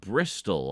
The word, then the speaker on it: Bristol: w British yeah but Bristol I believe you do pronounce the T in Bristol because otherwise it would just be bristle to make that bot